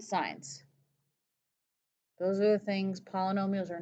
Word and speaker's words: polynomials: Poly, P-O-L-Y, no meals, M-I-A-L-S. Polynomials. It's pronounced meals like the food, not miles.